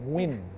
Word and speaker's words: Nguyen: Misalkan kayak pemain Vietnam nguyen orang banyak ngomong nguyen bukan nguyen nguin. Nguin.